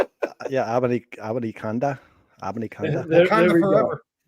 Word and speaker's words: Abanikanda: You guys pronounce it. It's awful quiet. Abanikakanda. Yeah, Abanikanda.